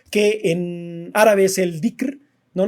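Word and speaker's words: dhikr: en árabe es el dicr no no sé cómo se pronuncie di es que hay una H de por medio y creo que la H tiene un sonido medio en elent es como dicker no que es este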